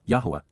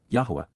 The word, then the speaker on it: Yahowah: But instead, KY, at that time, AZ, simultaneously at that point, Yahowah, Yahowah, the proper pronunciation of the name of Eloah, God as directed in his Torah, teaching regarding his Haya